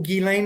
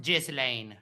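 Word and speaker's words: Ghislaine: Do you know who Gilane Maxwell is? Yeah. And it's pronounced Jlane.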